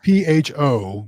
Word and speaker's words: pho: You know, because PHO, but it's pronounced pho.